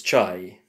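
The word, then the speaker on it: чай: whose te is that how do you say te in Russian it's chai so now how do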